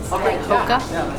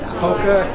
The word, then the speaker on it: Hoka: Hoka. Hoka.